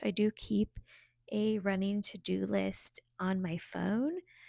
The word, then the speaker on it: Teuxdeux: I do keep a running to do list on my phone. I have an app called To Do. It's spelled Teuxdeux, like the French type spelling.